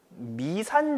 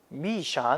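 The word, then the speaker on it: 密山: 책의 뭐라고 적혀 있어요 미산 적혀 있죠 그래서 가슴 중국어 3만 되어 쳐봤더니 때 또 발음이 미사는 아니래 넣음 저에게 기회가 된다 미샤 1 뭐 그런식으로 난다 그러는데 그렇다고 여 다가 미샤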